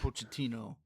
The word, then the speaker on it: Pochettino: And then you mix that with Pochettino coming in, right? That's how you say his name or coach. Mauricio Pochettino.